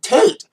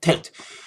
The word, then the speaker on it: Tate: That's why she probably named herself Cupcake, because it rhymes with Tate.